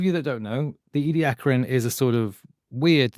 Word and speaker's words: Ediacaran: Ediacaran because it's named after a place in South Australia and that's how the local people, the Aboriginals, would pronounce it.